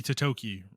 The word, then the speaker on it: Totoki: the Japanese I forgot his name already, Hiroki Totoki. Hiroki Remember, Totoki. it rhymes.